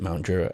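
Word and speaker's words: Mount Druitt: And um I mean where you were living in Mount Druiter, is that how you pronounce it? Mount Drew.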